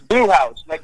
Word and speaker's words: Bluhauz: So for those not, let me make sure I can pronounce it correctly. Is it Bluhauz? Yeah, it's Bluhauz, just like a Bluhauz.